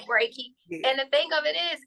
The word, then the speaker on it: Reiki: mispronounce it or say it you know you're pronouncing it right Reiki and the thing of it is is that